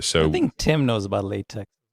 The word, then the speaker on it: LaTeX: So, I only used a system called Latte, which is spelled L A T-X. It's spelled like Latex.